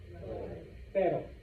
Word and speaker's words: pero: It's literally the same motion as that R in better.